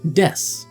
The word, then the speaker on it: です: written as de Su but it's said as Des so this is an interesting thing about both